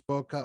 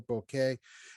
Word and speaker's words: bokeh: right here boca has basically there's two pronunciations that people are familiar with is bokeh or bokeh it all depends on the whatever wherever you've learned it from as far as i'm concerned they're both legitimate so you it doesn't